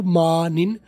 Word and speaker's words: morning: अकेला मॉर्निंग भी कह सकते हो, मॉर्निंग भी कर लो, आखिरी जी साइलेंट कर दो, मॉर्निंग, मा ओ आर की आवाज अलीबदा कर दी है कि मॉर्निंग, ये भी ठीक है, मॉर्निंग ये भी ठीक